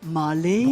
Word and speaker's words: Marlène: Alors il faut le prononcer à l'anglaise. Marlène. Pourquoi pas l'allemande? Non, non. Parce qu'elle est allemande au départ. Oui, mais elle a fait une carrière Oui, d'accord. internationale.